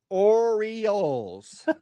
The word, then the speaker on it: Orioles: Oreos. The Baltimore Oreos. Not Oreos. Oreos. It's three syllables. Oreo. Yeah, Oreo. I got Oreos. Has got three syllables if you drag it out.